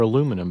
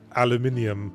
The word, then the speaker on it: aluminium: Well, I might have said aluminium. You know, because it's spelled IUM on the end, like every other metallic element.